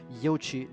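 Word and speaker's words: Yuezhi: is uc drive or sometimes it is spelled and pronounced as yochi drive in chinese pronunciation question number two when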